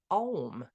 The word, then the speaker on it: Om: The first letter A is the root sound, the key, pronounced without touching any part of the tongue or palate. M represents the last sound, being produced by closed lips, and the U rolls up from the very root to the end of the sounding board of the mouth.